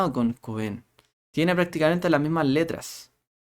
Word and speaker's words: Cohen: Es Cohen, ¿ya? Es con el acento en la O.